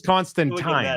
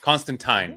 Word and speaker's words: Constantine: I thought it was Constantine. That's what Frier said earlier. It is rhymes with swine. We got it from the writer himself, Constantine.